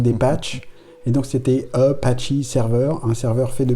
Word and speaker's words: Apache: En fait, c'était Apache, c'est pas tellement le nom des Indiens, c'est que c'est devenu Apache en anglais, ça se prononce Apache.